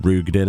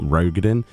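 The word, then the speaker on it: Roegadyn: Apparently, I've got to pronounce it rugin and not rogadin.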